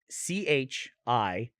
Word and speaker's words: Chicon: How do you pronounce CHICON? Chicon. Chicon. Here it says Or chicken. Chicone Street. Chicon. It says chicken. Chicken. No, mine does the same thing. Turn left on Chicken Street.